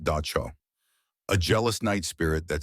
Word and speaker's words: Dab Sog: One of the figures in this world is a terrifying creature called the Dab Sog, pronounced Da Cho, a jealous night spirit that sits on your chest while you sleep, trying to crush the life out of you.